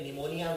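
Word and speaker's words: pneumonia: शब्द है निमोनिया देखिए निमोनिया में ज्यादातर गलती से शुरू होता है लेकिन इसमें पी का उच्चारण नहीं किया जाता तो निमोनिया हमको लिखने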